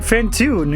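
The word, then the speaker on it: Phantoon: so who are you i am fantune it rhymes with cartoon and i am also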